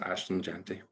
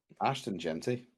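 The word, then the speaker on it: Ashton Jeanty: Is it Ashton? Oh, yeah. You're thinking Oshan Jeffrey used to play for the for the Eagles, the wide receiver. Oh my god. I have been saying his name wrong all year. He's just Ashton Genty.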